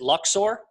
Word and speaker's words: Luxor: Ethan Vera here from is it Lux or Lux there yet it's pronouncing again Luxor Luxor okay because I know the